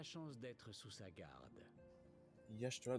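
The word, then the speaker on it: Y'shtola: Cette charmante demoiselle à côté de moi est Yashtola. Limsa Lominsa a la chance d'être sous sa garde. Yashtola. Donc en plus, ça se prononce pas comment ça s'écrit.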